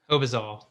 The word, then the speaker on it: Hobizal: it how do you say your last name hobazole obasal thank you for uh joining me on